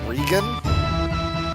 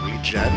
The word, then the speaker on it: Regen: I've heard people pronounce that Regan. And once I get it, I'll explain why I call it regen, but to anybody who pronounces it Regan, you're an idiot.